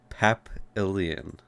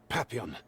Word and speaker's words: Papillon: Papillion. Your Nikke is here. Papillon, Oh. I said her name wrong.